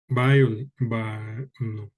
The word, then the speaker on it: biology: And then the other or another one is words ending in CY, TY, GY, and PHY. They stress where? Okay. The stress in the third to the last syllable.